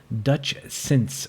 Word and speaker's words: Dutchsince: It's spelled DUTCHSINCE. Dutch Since, just like it sounds.